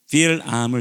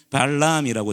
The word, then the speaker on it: 빌암: 빌암을 찾아갑니다. 개역개정 성경에는 발람이라고 되어 있어요. 근데 원래 발음으로는 빌암이라고 합니다.